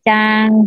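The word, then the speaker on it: ちゃん: Tulisannya Chan, bacanya Chang ya.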